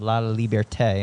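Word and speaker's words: Laliberté: You talk about the founding of Cir Sole and how this was an opportunity for the team of La Liberte. I hope I'm sure I didn't pronounce that right.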